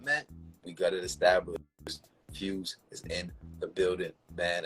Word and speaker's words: Fwz: know what his name was or how to pronounce it or what it meant we got it established fuse is in the building man and now I